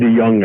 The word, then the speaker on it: DeJong: David DeJong, I think, is probably, because a J in Dutch would be a Y, is someone who a friend of mine introduced, and me too, long ago.